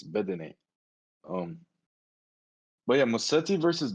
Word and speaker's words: Bedene: I don't think it's Bedin. I think it's Bedene.